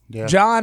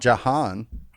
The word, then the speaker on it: John: yeah it's what now john has an h in it oh john has an idea it's not jahan yeah well it would